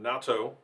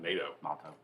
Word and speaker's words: Nato: mctara mitch evans norman natto i found out that's the correct pronunciation not nato jake dennis john eric